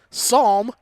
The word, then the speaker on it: Psalm: there on graphics psalm like the book of psalms but without the p because the p is silent on camera mackenzie murray